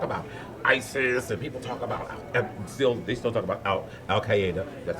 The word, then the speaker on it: Al Qaeda: People talk about ISIS and people talk about they still talk about Al Qaeda. That's how you pronounce it.